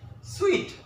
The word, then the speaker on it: suite: okay sweet sweet okay the right pronunciation is sweet I can't I can't